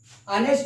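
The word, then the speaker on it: honest: कि फ्रेंड्स जब इसका हम प्रोनाउंसिएशन निकालते हैं तो एच से ह नहीं बोलते हैं, हम इसको आ से बोलते हैं।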